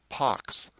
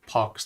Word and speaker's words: pax: erat mayakopa da gloria pax habemus sanguinis i always say pax but i guess i should pronounce it parks like chickenpox ponem salutes now these